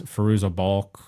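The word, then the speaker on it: Fairuza Balk: you know out of the showrunners hand is firoozeh bulk that's how you say her name from American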